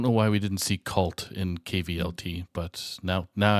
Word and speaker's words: kvlt: it like kvlt or is it like cold I don't know um we'll say yes to both can't be wrong yes to both but anyway um that's a name I'm not super familiar with I have seen I have seen the name oh it's pronounced cult okay uh that's good to